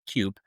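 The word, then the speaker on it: CUPE: So, for those of you who uh may not be fully aware, essentially the uh Canadian Union of Public Employees, I think they're pronounced CUP uh which represented over 10,000 flight attendants from for Air Canada issued a 72-hour strike warning.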